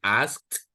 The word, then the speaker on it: asked: Remember, you have to make that at the end, asked.